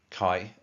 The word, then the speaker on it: Kai: The guy who did my tattoo was called Kai, pronounced like having a K in front of an I. Kai.